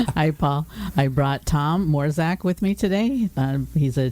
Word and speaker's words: Mrozek: But it's Mrozek. Mrozek. Okay, I did pronounce it wrong, and I've been practicing.